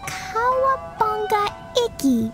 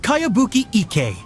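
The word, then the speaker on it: Kayabuki Ikkei: of it by cowabunga icky this is a really strange name who's this cowabunga it's pronounced kaiabuki ek that would be me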